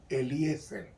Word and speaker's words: Eliezer: Así es que se pronuncia en el hebreo, Eliezer.